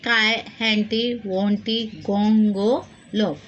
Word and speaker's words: Triantiwontigongolope: Lesson number 9, the Try, Anti, Wanti, Gongo, Lob. The word is totally very difficult to pronounce, but you can split it and read Try, Anti, Wanti, Gongo, Lob.